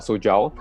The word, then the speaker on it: SOJAO: gentile is from uh soja is co-founder of sojou um i'm not sure whether i've pronounced it in the in the correct manner so i hope that you can you can do it for me actually it's perfect really okay then okay so it's right awesome awesome also um